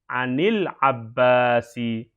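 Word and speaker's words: عن العباس: An sukun. Ketemu dengan alif lam. Ya. Maka jadilah ani. Anil Abbasi.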